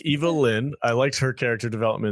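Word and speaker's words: Evil-Lyn: I thought Evelyn and Gorgo, is that his name? Orko. Hey, Orko. Kadish, you're saying her name wrong, man. Evil Lyn. It's Evil Lyn.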